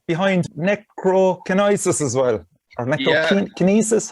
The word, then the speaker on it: Necrokinesis: Or Necrokinesis, how would you pronounce it? Necrokinesis, yeah.